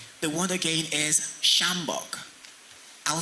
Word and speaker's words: sjambok: Third, shambok. Even though it begins with a sh sound, there is no SH in that word. However, there is a silent letter J in the word.